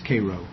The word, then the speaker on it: Cairo: things come down, but in Egypt it's Cairo, but in Illinois it's Cairo. Spelled the same though. If you go there and if you ask directions to Cairo, Illinois, they know you ain't from around there.